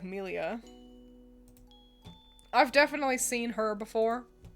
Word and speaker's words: Millia: like that one that one is good here's milia is it pronounced that way or is it like milia I've definitely seen her before there she is